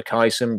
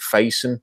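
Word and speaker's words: Facyson: year for Auburn Brandon I always thought it was for Kaizen but I think Faison is how pronouncing the combine is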